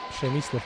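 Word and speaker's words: Przemysław: на преслав преслав карновски пшемислав карновски близко до оригиналното полско произношение и българия павлин иванов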